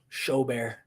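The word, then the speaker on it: Gobert: i appreciate it um gilbert rhymes with show bear rudy show bear um minnesota choked so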